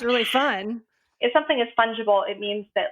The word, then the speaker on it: fungible: how to pronounce like i thought it was like with a fun g so like a fun i thought it was fungable funky funkable and i thought i'm